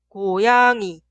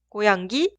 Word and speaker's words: 고양이: gato, 고양이, 고양이, 고양이. pollito, 병아리, 병아리, 병아리. Suena como está escrita. 강아지, 고양이 y 병아리. Un error muy común es pronunciar así. 강가지, 고양기, 병가리.